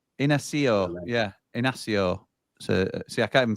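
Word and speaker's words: Inácio: It's pronounced Inacio. Yeah, Inacio.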